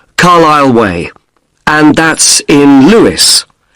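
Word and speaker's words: Carlisle: s s l e you don't pronounce the S carile way and that's in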